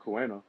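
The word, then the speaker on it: Kuina: There's another version of like Kuena. That's how you pronounce her name.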